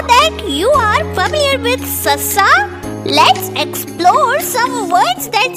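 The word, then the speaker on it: ਸੱਸਾ: Meet Sassa, pronounced Sassa. It sounds like the English letter S. So it's S, like in sun.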